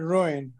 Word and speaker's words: ruin: can understand the word ruin right right I understand understand the pronunciation too it's two syllables ruin foreign for everyone yes